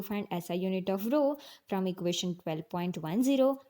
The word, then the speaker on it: Rho: Rho into one divided by a how to pronounce it as Rho what is Rho it is a constant of